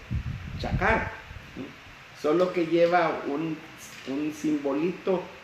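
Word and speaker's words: חָקַר: Y entonces la palabra examinado viene del hebreo chakar. Es C-H-A-Q-A-R. Q, o sea, ahí se pronuncia como C, pero es chakar.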